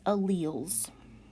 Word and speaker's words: alleles: to look at is alleles and this is pronounced uh wheels and alleles are one